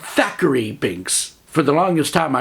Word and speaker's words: Thackeray Binks: Yes, I said Thackeray Binks. For the longest time, I really thought his name was Zachary Binks, and people were pronouncing it like they had a lisp.